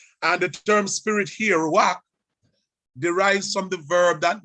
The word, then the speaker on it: Ruach: Ruach, that's how it is pronounced.